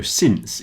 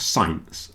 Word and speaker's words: since: Since rhymes with prince. So since is not science, okay? It's since.